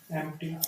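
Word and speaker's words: empty: का अपोजिट क्या होगा एम्प्टी एम्प्टी होगा उसको एम्प्टी एम्प्टी इसकी जो प्रोनाउंसिएशन है ना वो है एम्प्टी एम्प्टी एम्प्टी नहीं एम पी साइलेंट है एम्प्टी एम्प्टी नहीं एम्प्टी ठीक है।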